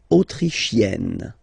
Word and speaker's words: autrichienne: L'Autriche, autrichien, autrichienne. So same thing here. You get E and then double N. You open the E.